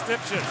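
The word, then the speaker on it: Stipsicz: Vince Stipchitz plays it in. That is the pronunciation, by the way, that they insist is correct.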